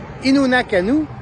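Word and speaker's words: Innu Nikamu: Faut que je le prononce comme faut. Innu Nakanu.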